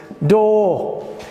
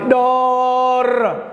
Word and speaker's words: door: word door outs right like this doh doh not like in Somali door no this is incorrect you say like doh and finally cat up